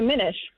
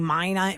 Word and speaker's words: Minish: Not finish. Well, Minish is fine. Minish. Do people mispronounce Well, that? I Minish. can't imagine they do. Are they saying mine-ish?